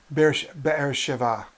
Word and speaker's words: Beersheba: I'm pronouncing English. Beersheba. Okay, I think that's closer to the real Hebrew.